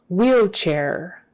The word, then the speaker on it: wheelchair: a word so um wheelchair wheel chair the h is silent e-e-l c-h-n-a-i-r always is